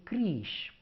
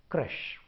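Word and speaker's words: crèche: Okay, the Indianish words that we are going to talk today is about, the number one word is, I hear people say creche. Let's tell it as crush.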